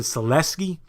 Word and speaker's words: Sulecki: Jacobs versus message or Max's Seleka HBO pronounced to Celestia and that fight was